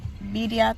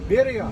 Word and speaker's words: birria: We're gonna go get some birria tacos. TT does not know how to pronounce the double R's, but it's technically double L's. Birria. Say it. Birria.